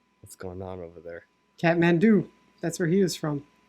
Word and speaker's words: Kathmandu: I didn't realize there's a silent H in Kathmandu. Yeah. Kathmandu. Kath.